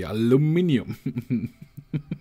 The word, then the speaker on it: aluminium: that we are Europeans we say aluminium well everybody should say that because that's what it is that's how it's spelled but yeah yeah there's there's no two um meanings about that that's just just the way it is everything else is just a spelling mistake anyway we're 38 minutes